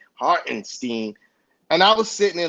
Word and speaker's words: Hartenstein: He even pronounced the boy name right, Hartenstein.